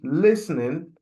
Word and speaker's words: listening: No, the correct pronunciation for the word listening like I have said is listening T. The letter T in listening is very much silent.